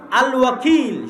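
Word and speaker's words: الوكيل: আল ওয়াকিল শুদ্ধ উচ্চারণ।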